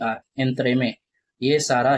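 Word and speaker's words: entremetier: एंथ्रे में ठीक है? तो स्पेलिंग आ गया ई एन टी आर ई एम ई टी आई ई आर एंथ्रे में।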